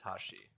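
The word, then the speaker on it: 橋: There'd be like a kanji for bridge, and it would be read as hashi.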